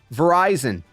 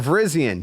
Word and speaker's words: Virizion: Right behind me, boom, we got Virizion or Virizion, however you want to pronounce it. It's pretty much Verizon.